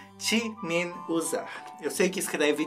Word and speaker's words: Jimin: Hoje vamos falar de roupas feias até o time usar eu sei que escreve de mim mas